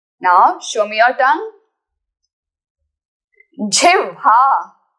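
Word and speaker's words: जिह्वा: Jivha. How to pronounce this word? There is ha, half, and then focus directly on va. Jivva.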